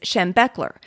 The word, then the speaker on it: Schembechler: room was so bo the pronunciation of Bo's last name is Schembechler and he was head